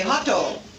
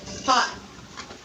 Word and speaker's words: hot: learners adopt is to add an additional vowel sound to the end of the syllable. Japanese speakers are very famous for doing this when they speak English. They might say hato instead of hot.